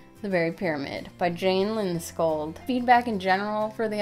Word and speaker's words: Lindskold: Kol D, the Berry Pyramid by Jane Lindscold.